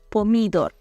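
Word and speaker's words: pomidor: звернули увагу на те що наголос є нестандартний так польською Ми кажемо помідор якщо треба буде перекласти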